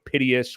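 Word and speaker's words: Piteas: I know Piteous, which is the correct pronunciation of that Dex aggregator. But Piteous, as well as, people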